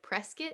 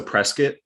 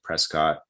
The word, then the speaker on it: Prescott: It's pronounced, you said like biscuit, so like Prescott Mm. College. Yeah, exactly. Yeah, it's so Prescott. Yeah, Okay. exactly. I pronounced it Prescott the first time I